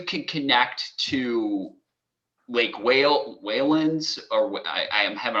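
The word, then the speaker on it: Whalon Lake: um because you could connect to lake whale whalen's or what i i'm having a hard time pronouncing it i'm sorry whalen lake waylon lakes thank you thank you this is will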